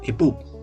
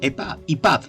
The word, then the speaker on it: epub: de archivo pdf o epub epa y pub no sería la pronunciación estos ciber libros llegaron